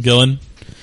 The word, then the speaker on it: Gillan: How do you say it? I think it's just Gillen. Gillen.